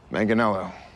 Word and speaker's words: Manganello: melanoma okay oh man i looked this up like a million times because even i didn't know how to say his last name and i love that guy mangano manganello well pleasure to meet you john maddow manganello sorry trickier one more time manganello i'm an actor i'm